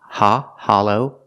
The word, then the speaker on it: hollow: use the sound a ha Hollow the short a sound like stop and hot ha Hollow the second syllable is a long o like go and no together together hollow hollow is an adjective it